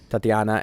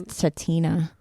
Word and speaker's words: Tatina: You're adding an extra syllable into her name. I think it's Tatina. There's no extra syllable. Oh, in there. Tatina, you're right.